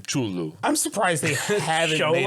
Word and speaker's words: Cthulhu: You're not supposed to be able to pronounce Cthulhu because its actual pronunciations a human mouth can't make. It drives a man to madness. Yeah, it's like I've been told that the actual pronunciation for Cthulhu is Chulu or something near that.